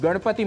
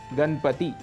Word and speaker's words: गणपति: पर मनाया जाता है, अक्सर वहाँ पर हम णकार के स्थान पर नकार का प्रयोग करते हैं। उदाहरण के लिए गणपति ऐसा उच्चारण कर जाते हैं, इसका शुद्ध उच्चारण है गणपति।